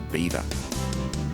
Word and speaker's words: Belvoir: Once the site of a Norman castle, it takes its name from the French Belvoir, meaning beautiful view. The English didn't like the French association, so they changed the pronunciation to beaver.